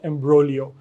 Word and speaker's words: imbroglio: तो आई was really stuck in एन एम्ब्रोलियो। Word है आज का एम्ब्रोलियो। एम्ब्रोलियो नाउन है, इसमें जी साइलेंट है। आप इसके जब स्पेलिंग देखते हैं तो आपको जी जो है साइलेंट है।